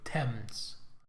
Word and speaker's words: Thames: Oh, sorry, Thames. That's how they pronounce that.